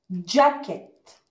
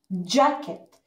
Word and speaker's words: jacket: Jacket. Ja. Ja. Jacket. C والK.